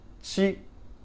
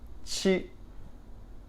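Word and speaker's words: 七: for doing that so three fingers she she she she is seven she level tone next one it's just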